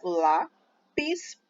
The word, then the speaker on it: lápis: Essa palavra tem 2 sílabas, lápis, e a sílaba tônica é a penúltima, é o lá.